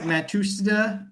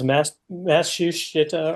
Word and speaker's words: Matsushita: And their parent company is like Matsushita or something like that. They also made Technics or Techniques, depending on how you pronounce that.